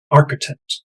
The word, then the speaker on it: architect: the pictures okay and architect be careful with that ch here is architect a waitress a lawyer